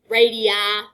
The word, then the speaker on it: radii: These are both radii. Radii is how you pronounce it if there are more than one.